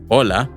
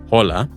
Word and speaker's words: hola: be aware however that because the H sound is silent in Spanish remember it's hola not hola it can be tricky